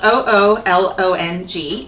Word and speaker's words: oolong: It's spelled O-O-L-O-N-G, oolong.